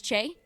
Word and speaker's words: Che: It's spelled with a C. It's like a C H I think it's Che. I Che. It's Che. Oh, Che. Sorry. That's Che. Um, I'm going to get there.